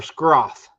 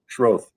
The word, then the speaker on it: Schroth: Yeah, it's either Schroth or Scroth. Neither. Okay. It's Schroth. It's Schroth?